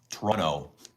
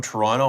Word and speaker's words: Toronto: There's two, but you don't pronounce the second T in Toronto. Toronto. And we know, right? We know if you're from Toronto or not by the way you pronounce this city.